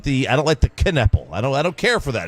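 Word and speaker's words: Knueppel: You could be taking Con Kneppel from Duke. You pronounce the K?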